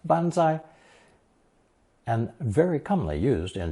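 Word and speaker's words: 万歳: By the way, it's also the same phrase in Japanese pronounced bonsai and very commonly used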